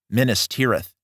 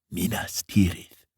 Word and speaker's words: Minas Tirith: They are going to Minas Tirith. Minas Tirith. I'll do multiple pronunciations as I've done for the entire trilogy. Minas Tirith versus Minas Tirith.